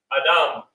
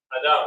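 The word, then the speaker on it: אדם: character to this character you pronounce the entire part of this which is Da but then you finish it with the beginning of the pronunciation of it which is ma but that because it's at the end you just use the M sound so it's Adam Adam all right I would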